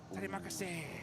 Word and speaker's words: Terima kasih: Oh, is it Terima kasih, right?